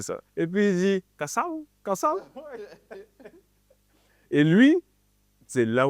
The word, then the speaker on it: Kassav: c'est Marquis Miller qui me dit non c'est Cassav ouais c'est ça et puis il dit Cassav Cassav et lui c'est là où tu vois